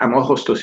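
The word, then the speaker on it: Αμμόχωστος: british sovereignty now look where uh hostas is how fam augusta is pronounced in greek look where fam augusta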